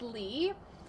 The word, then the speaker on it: Lee: Hunters asking for help is your name pronounced Lee or Le it's Lee um but if you ask